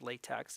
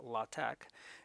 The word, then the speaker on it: LaTeX: latak and it's spelled like that it's not pronounced latex it's latex now and the t is capitalized the x